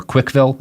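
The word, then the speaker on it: CWCville: after her initials, uh, which CWC, um, or Quickville is usually how she'll pronounce it.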